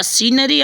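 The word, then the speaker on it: scenery: सीनरी ऑफ the Himalayas यहां पर सीनरी में फ्रेंड्स ना यस जो है साइलेंट है यस का साउंड नहीं हुआ है ठीक है द सीनरी ऑफ the Himalayas ठीक है सॉरी सीनरी में यस नहीं फ्रेंड्स सी सी जो है ठीक है सी जो है यहां पर साइलेंट हो गया सॉरी ठीक है द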